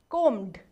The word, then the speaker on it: combed: Ed. Yes, but the pronunciation is d. Combed.